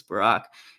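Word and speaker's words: Barak: like it's funny because the pronunciation originally the hebrew is closer to barack and so it is funny that we like sort of it became barrack at some point and now people think it's barack because barack obama is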